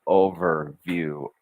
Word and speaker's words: overview: Let over finish completely, sounding out over, then push into the word view, overview, overview.